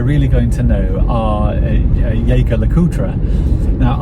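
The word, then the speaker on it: Jaeger-LeCoultre: Now, I've called them Jaeger LeCoultre for a while, and but I'm sure I heard an employee of JJ LeCoultre speak recently, and they said JJ LeCoultre, so perhaps that's the correct pronunciation.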